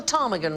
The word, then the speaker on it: ptarmigan: So he got the ptarmigan wrong, but he did get the blue whale right, so I think that's pretty good. The silent P's were all pronounced until the preposterous English purged them.